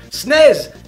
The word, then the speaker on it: SNES: example in North America they waste so many syllables by referring to it as the SNES like what a bloody ridiculous mouthful that is when you can say snez instead and yes I know